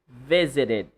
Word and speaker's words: visited: So you should make sure that you clearly utter or enunciate the sound, the last sound of the ed past tense of visit. Visited. Visited. Or in standard English, they say visited, right?